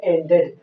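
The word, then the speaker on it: ended: अगर word TED या डीईडी से समाप्त होता है तो हम यहाँ पे ई का उच्चारण करेंगे, यानी यहाँ साइलेंट नहीं रहेगा।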